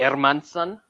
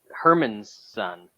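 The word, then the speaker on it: Hermansson: uh podcast because he's got the correct pronunciation of Jaco ermanson air Mountain yeah ermanson he's like uh he's not Herman's son uh he's Michael Jordan's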